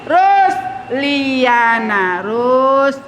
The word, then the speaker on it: Rusliana: Jadi Rusliana. Sambunglah ke sini dia, ya kan? Rusliana. Panjang A-nya.